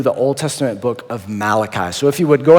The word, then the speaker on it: Malachi: Malachi and it's actually you say his name Malachi he wasn't an Italian prophet named mulashi Malachi is how you